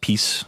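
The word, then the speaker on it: PiS: is unfortunately for them named this P is pronounced peace in in Polish so this piece so pieces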